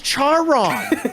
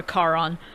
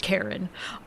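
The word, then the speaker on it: Charon: the head game Hades I thought it was char it's not it's not pronounced like that it's pronounced like Kon or Caron um and I'm pretty sure how do you pronounce it let me look it up cuz I remember him from Hades hang on K Kon pronunciation if I'm wrong I'm going be upset uh how do you say this Karen it it's actually legitimately it's actually pronounced Karen wow ain't no [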